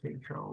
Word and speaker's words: Tatro: Mr. Tatro long A.